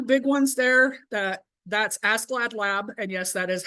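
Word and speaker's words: ASCLD/LAB: uh the two big ones there that that's ask glad lab and yes that is how that's pronounced um accreditation and ISO IEC accreditation now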